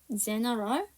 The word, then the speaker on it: general: 하지만 네 번째 단어인 일반적인이라는 general은요, A가 발음이 나요.